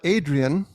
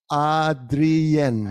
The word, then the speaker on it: Adrien: Okay, so we've got Adrian, who's asking Actually, it's pronounced- Adrien. It's like Spanish.